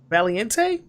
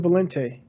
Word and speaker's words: Valente: Catherine M. Valiente? Hold on. Let me look at it. Yeah, because I can't say that. Oh, Catherine Valente. Valente, okay, fine.